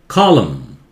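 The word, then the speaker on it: column: ये matrices, matrices, matrices, matrices में ये क्या होता है, रो, ये कॉलम, ये एन उच्चारण नहीं करते हैं, ठीक है, कॉलम, कॉलम vertical, कॉलम रो,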